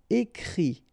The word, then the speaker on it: écrit: And then the IT, phonetically you pronounce I because final T is not pronounced, but still. Écrire, to write. Écrit.